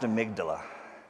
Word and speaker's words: amygdala: I remember how to spell it because it's Amy G. Dalla. That's how to spell it. It's pronounced amygdala.